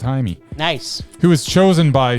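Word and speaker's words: Jaime: Blue Beetle is the story of Haimey Reyes or Jamie Reyes depending on how you're pronouncing it. But I'm going to go with Haimey.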